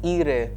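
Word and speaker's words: ihre: when it is feminine it becomes era that comes with an e and when it is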